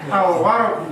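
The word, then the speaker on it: الورق: as-sukaru, Nah, al-waraqu, au atau al? al, Kan benar kan saya bilang, ada yang bilang al-waraq. Ternyata apa? Al-waraq. Ya karena memang sering menyangka waw itu apa? Syamsiyah.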